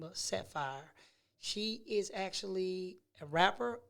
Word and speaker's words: Saphyre: This person goes by the name of Saphyre. She is actually a rapper, R&B singer, everything. The ultimate entrepreneur that you will ever meet. I want you guys to welcome the one and only Saphyre.